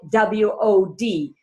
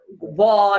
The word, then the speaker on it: WOD: all had pronouncing it you can only call it w-o-d you can't call it wall wad or what or yeah like so